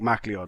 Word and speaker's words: MacLeod: But you did also use a little bit of the old classic MacLeod music, right? I think it's pronounced MacLeod, but it's weirdly written. It is written like MacLeod.